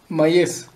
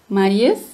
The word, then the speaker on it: Mayıs: Mayıs. Mayıs. Aquí, cuidado, amigos, porque esa Y es como la I latina. Así no suena como G en español. No es Mayıs.